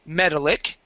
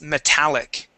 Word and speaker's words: metallic: form is metallic okay it would not be metallic it's metallic all right so and